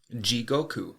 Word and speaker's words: jigoku: the Japanese word for hell and that is ji Goku jigoku is spelled j-i-g-o-k-u and jigoku is very relevant to